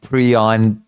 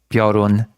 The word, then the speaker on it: Piorun: repeating a billion times that it's not Prion, that it's Piorun.